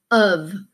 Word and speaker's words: of: And why this is tricky is because the O says and the F says V. So both letters don't make the sounds that we would normally think of for those letters.